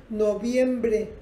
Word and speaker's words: noviembre: El mes de noviembre, fíjense en mis labios, noviembre, noviembre, es labial. En inglés, November, November, este es labiodental, November, y la otra es labial.